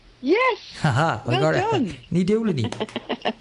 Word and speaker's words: Ní Dubhsláine: Ní Dubhsláine. Yes. Haha, well done. Ní Dubhsláine. So I was always pronouncing it Dubhsláine, because I was pronouncing it how I thought it's like it was spelt, But so I never